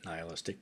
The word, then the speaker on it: nihilistic: uh a nistic or some people pronounce it nihilistic but I think it's Neal istic um interpretation um and